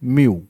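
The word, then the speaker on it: mu: म्यू ऐसे आप pronunciate करना है। म्यू ठीक है?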